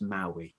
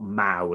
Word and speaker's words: Maue: But just giving you a warning, his name is actually pronounced Maue, not Mao, as I believe I said.